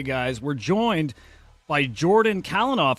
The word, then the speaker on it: Calinoff: we're joined by Jordan kenoff I got your last name right I think right yep that was that was a great pronunciation there so yeah I'm happy